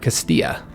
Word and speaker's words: Castilla: and their defensive force it reminds me of Castile or Castilla however you want to pronounce it Spanish or English so we do get